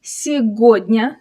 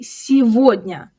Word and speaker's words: сегодня: You might expect to say сегодня, since you can see the word год, meaning year, right inside it. But, we don't say it that way at all. The г here turns into в. We say сегодня.